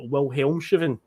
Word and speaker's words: Wilhelmshaven: And then we'd also lose 2-1 to a team called Wilhelmshaven. Yes, that's how that one's pronounced.